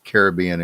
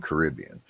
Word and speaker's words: Caribbean: And if you look it up, it has both pronunciations, niche or niche. So it's like Caribbean and Caribbean.